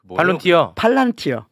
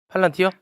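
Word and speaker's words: Palantir: 예, 지금 팔란티어, 발론티어? 팔란티어.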